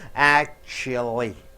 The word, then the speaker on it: actually: For example, actually. How do you pronounce that? Actually. Act should be stressed more.